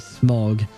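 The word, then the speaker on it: Smaug: Hobbit series you know although I think it's pronounced M I think but it's written as m a u and Au in French is pronounced O So smog so yeah kind of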